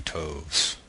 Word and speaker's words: toves: how to pronounce slithy toves. The I in slithy is long, as in writhe, and toves is pronounced so as to rhyme with groves.